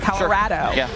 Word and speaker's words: Colorado: this week already yeah that's how you say it that's how they say it that's how local say it Colorado Travis Hunter HD uh